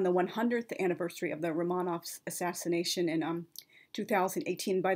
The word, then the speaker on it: Romanov: 100th anniversary of the romanovs assassination in um 2018 by the way on Romanov is the proper Russian pronunciation Romanov is in English um mispronunciation I realize Romanov is